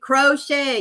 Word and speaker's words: crochet: Uh, why didn't crochet? Yes. Where the T is silent silent.